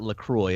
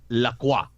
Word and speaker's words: LaCroix: correctly have I heard it's not Lacroix it's Lacroix like wow you know you